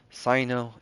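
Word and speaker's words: Cyno: I don't know why I was thinking Sino, but it totally makes sense given the source material for where they're pulling a lot of this from. So Sino is the right pronunciation.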